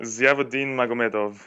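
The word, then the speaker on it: Ziyavudin Magomedov: Zia Zavuin Magumadev something like that. How did I do correct? Yeah. Zeodin Magomedov.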